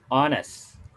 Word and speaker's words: honest: Honest. Honest ya. Hanya tidak dibaca, hanya tidak dibaca.